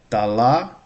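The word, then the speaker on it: дала: Dala. Dalo. I see. I see. Dal, cuz this is only one syllable. Um, dala. Syllables shifted. Dalo.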